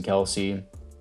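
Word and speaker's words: Kelce: dickerson jordan milada jason kelsey let's actually pronounce jason kels but everyone just calls him kelsey so whatever it doesn't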